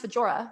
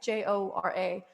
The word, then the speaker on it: Fjøra: Could be pronounced Fjøra. There's a J in there, Fjora. The J is semi-silent. It actually bends, Fjøra.